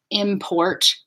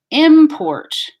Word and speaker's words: import: But depending on whether it's a noun or a verb, you will change the intonation, and that will tell you. So import, import, import, right?